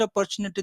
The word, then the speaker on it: opportunity: and they are forgetting they don't know how to pronounce it opportunity they are saying CH yes in the in